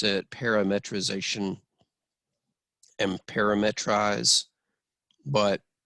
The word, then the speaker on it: parametrization: practice saying the word parametrization and its verb counterpart parametrize some people pronounce it parametrization and parametrize but i like saying the word parameter inside of there call me crazy so